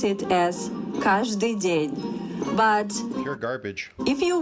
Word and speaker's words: Каждый день: In Russia, we pronounce it as каждый день.